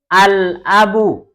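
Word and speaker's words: الأب: Tapi perhatikan, kalau huruf-huruf qamariyah, seperti contohnya yang pertama adalah hamzah, cara membacanya lamnya disukun atau lamnya dibaca dengan al-abu, al-babu, begitu ya.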